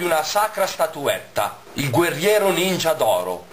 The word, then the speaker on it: ninja: braccio sinistro i tre Ninja migliori dell'impero dei ninja Anzi come lo chiamano in questo film L'impero dei ninja con l'accento sulla a ne prendono un pezzo a